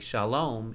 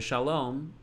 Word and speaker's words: shalom: And the dot in the air above the vav is holding the spot of the O sound. For now, the lamed would be L, and the cholam vav would be O. Shalo, shalo. So far we have shalo. And the only way we make shalom is to put a closing consonant.